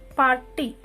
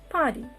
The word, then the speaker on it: party: It is not party. It is party. Party. R is a silent letter.